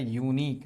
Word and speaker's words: unique: इसका जो सही प्रोनाउंसिएशन होता है वो होता है यूनिक, नॉट यूनिक, यूनिक, है ना?